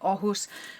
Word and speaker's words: Åhus: We're going to Oh, or spelled a hus, but I believe it's pronounced with an O. Ohus, which is in the Christian dad district.